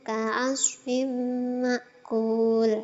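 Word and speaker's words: كعصف مأكول: Nah, hukum bacaannya idgham bi gunnah. Sebab ada kasroh tanwin bertemu dengan huruf mim, itu cara bacanya memasukkan suara kasroh tanwin ke huruf di depannya, yakni mim, dengan mendengung. Lama dengungnya 2 ketukan.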